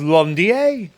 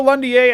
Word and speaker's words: Londier: We have Londier. Now, this guy always made me think of London with his name, but actually, his name is pronounced in a French way.